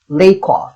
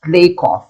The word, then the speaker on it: Lakoff: Robin Lakoff. It's pronounced Lakoff, not Lakoff. I checked already.